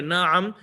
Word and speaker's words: na'am: the middle na i'm in arabic pronunciation over here na'am which is a very